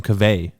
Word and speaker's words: Kaveh: to someone else, and he said he pronounced his name Kaveh. Right. Yeah. Because like I asked him about it too, and like it's just like an easier phonetic sounding like name.